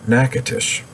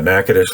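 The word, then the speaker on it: Natchitoches: uh sandini or saint dennis s-t d-e-n-i-s now nakatish uh even locals have trouble spelling this so uh nakedish louisiana which is still there is spelled n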